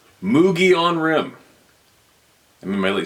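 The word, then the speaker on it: Mogollon: mountains of Arizona and the Mulan pronounced mugon isn't that funny I always say my my brain always goes why don't they spell it that way right if that sounds pronounced why don't they why don't they spell these words the way they're pronounced mogie on rim I'm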